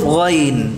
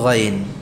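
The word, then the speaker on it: غ: Huruf ghain ini juga mirip dengan kha, ya, karena kesamaan makhrajnya, sama-sama dari ujung tenggorokan. Hanya saja yang membedakan antara ghain ini dengan kha apa? Ghain itu jahr, majhurah, sedangkan kha mahmusah. Ya, ghain ini diucapkan dengan menahan udara, nafasnya ditahan.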